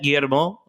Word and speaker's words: Guillermo: They're in Toronto and they see the double Oh, L's and they pronounce it all the time. my name is Guillermo, so you don't have.